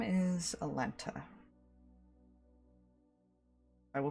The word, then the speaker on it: Alenta: wrong, I will correct It is basically spelled how it sounds. Alenta. Like L-E-N-T-A.